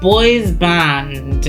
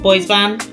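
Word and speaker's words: bois bandé: Um, but boys band it is. And I'm definitely not pronouncing that in the correct way.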